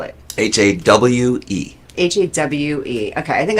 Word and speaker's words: Hawe: How do you spell it? Hawe. Hawe. Okay. I think And it's not how. It's not Howie or It's- Hawe. Ha.